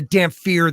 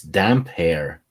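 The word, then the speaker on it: Damphair: He was a wild child and became no, it's damp hair. Oh yeah, I'm thinking vampire, aren't I? Yeah. Damp hair, but it's spelled weird, isn't it? Yeah, spell is it looks damp, like it's damp hair. Damp hair. Because he's always wet with the salt water. See, but before I learned how they say it, I always read it as Damphir.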